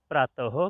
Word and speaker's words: प्रातः: यहाँ पर जो दो बिंदियां हैं इसका उच्चारण कैसे करते हैं? ह। प्रातः काल।